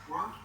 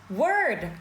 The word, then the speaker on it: word: I'm inclined to work Sao cứ work vậy? Word. Bực quá trời bực luôn.